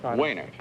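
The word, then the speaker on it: Wejnert: Waynert. Waynert. W-E... Was it W-E-J-N-E-R-T? You don't pronounce the J, is that it? Waynert, I see.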